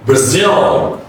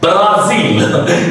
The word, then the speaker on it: Brazil: The first A is reduced. The next one is stretch. Brazil. Brazil, okay? Brazil. It's interesting, all right? Brazil. It's not Brazil. It's wrong. It's incorrect pronunciation. So it's Brazil.